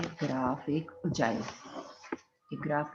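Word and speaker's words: ogive: और हमने पढ़ना है ग्राफ, एक उजाइव। एक ग्राफ का नाम क्या है, उजाइव। स्पेलिंग में तो कुछ अजीब सा लग रहा है, ओगिव लग रहा है, लेकिन ओगिव नहीं, इसको बोलते हैं उजाइव, ठीक है।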